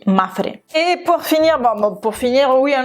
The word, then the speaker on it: Mapfre: Et puis vous, si j'ai bien compris, c'est la façon de le prononcer, c'est Mapfre. Pour un espagnol, dire ça avec un accent français, Mapfre, pour moi, c'est hyper compliqué. Mais bon, on dit Mapfre.